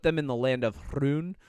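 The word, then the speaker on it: Rhûn: They've put them in the land of Hrun, thank God fucking everybody is saying it that way in this season. I love it. Like I love that everybody just pronounces it correctly. It's so good. But it's Rhun.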